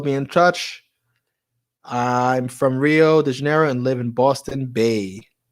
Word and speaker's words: Rio de Janeiro: R's aren't rolled. R's are pronounced H's. Like instead of it being Rio de Janeiro, or Rio. How would I say that? Rio de Janeiro. It's Rio de Janeiro.